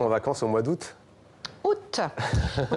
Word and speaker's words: août: Oui. Mais au temps d'Apollinaire, il y a un peu plus d'un siècle, bientôt finira loup, reverrai-je mon petit loup, le T final de août était muet.